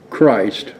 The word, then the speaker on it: Christ: Mike Myers might want to read off hillman nightstick belong to Henry William Christian item off they called him Christ with a short I he was a Tippecanoe